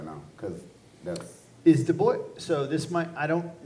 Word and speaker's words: Du Bois: Du Bois. Du Bois.